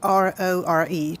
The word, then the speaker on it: Aurore: Aurore. Just like the Sleeping Beauty.